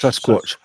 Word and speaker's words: Sasquatch: Sasquatch. Like a watch. Sasquatch.